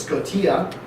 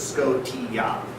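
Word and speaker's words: σκοτία: So it's not pronounced like Nova Scotia. It's not like the T-I-N-ish. There's not really like a sh sound in Greek. Yeah. There's no sh. There's no J. Soft G. There's no sh in Greek really. So it's Scotia. And just as a note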